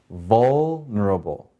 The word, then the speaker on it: vulnerable: So in this word, vul has the accent, the first syllable. So how do we say this word? Vulnerable. Again, vulnerable.